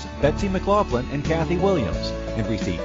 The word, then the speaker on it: McLoughlin: something funny when I pronounce it can you pronounce your last name for me one more time McLaughlin McLaughlin I think I need to get an accent